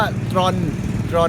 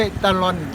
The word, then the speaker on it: ตรอน: นี่ ชื่อ ยาว มาก นี่ คือ อ่าน ว่า ตร่อน นะ ไม่ ใช่ ตะลอน เขา บอก ว่า ตอน